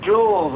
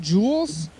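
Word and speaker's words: Juul: Jewels? Jewels, yeah. What is, is this a warning advertisement? What's going on here? What is jewels? A jewel. Like a diamond? It's, yeah, but it's spelled J-U-U-L.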